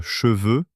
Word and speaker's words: cheveux: C'est une toute petite différence de prononciation entre cheveux et chevaux, mais le résultat est surréaliste.